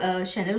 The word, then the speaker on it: Chanel: मेरी एक जो फ्रेंड है वो शैनल को ना वो चैनल बोलती है.